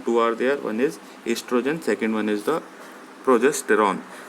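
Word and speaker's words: oestrogen: Here O is silent here, so it is pronounced as estrogen.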